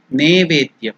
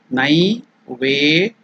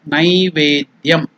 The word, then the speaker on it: Naivedyam: See, it is not, some people in some parts of India, they pronounce it as Nevedyam. It is not Ne. It is Nai.